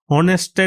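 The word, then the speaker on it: honest: অনেস্টের এইচটা consonant, এর সাউন্ডটা ভাওয়েলের মতো, অনেস্ট, ও উচ্চারণ হচ্ছে অনেস্ট, এই কারণে এন বসেছে।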